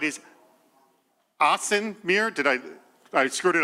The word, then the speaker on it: Ahsan: And to my right is Ahsan Mir. Did I screwed it up again? Oh, it's all good. Hold it. How to pronounce it again for me? It's Ahsan. Ahsan Mir.